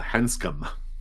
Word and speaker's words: Hansum: Uh, Hansum. Hansum. It rhymes with handsome.